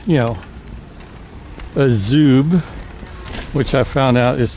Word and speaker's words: Azub: type wheel, and of course, it's, you know, Azub, which I found out is the proper pronunciation.